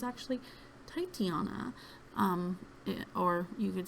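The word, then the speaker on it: Titania: I always pronounced it Tatiana and always thought it was Tatiana, but it's actually Titiana.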